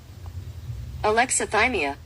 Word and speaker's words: alexithymia: Alexithymia. Ah. Okay, makes sense. It definitely looks like an Alexa, but yeah, thymia.